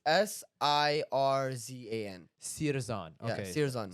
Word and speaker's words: Sirjan: That's like, no, it's pronounced Sirjan.